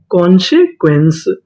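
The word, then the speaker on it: consequence: ई इसे पढ़ेंगे सा अगर आपको आखिरी में इ लिखा मिले तो हम लोग इ का उच्चारण नहीं करते इसे पहले तक का उच्चारण करते हैं तो पूरी मीनिंग क्या बनी कॉन्सक्वेंस कॉन्सिक्वेंस कॉन्सक्वेंस का मतलब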